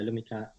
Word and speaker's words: Lumikhâ: And that's the more recent show in January called the Laka—sorry, excuse my pronunciation—Lumikhâ. Is that correct? CT: Yes. Yeah, Lumikhâ. So “lumikhâ” means “to create” in Filipino.